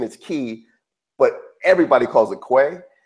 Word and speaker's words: Quay: Yeah, I've heard it pronounced key or something, but quay.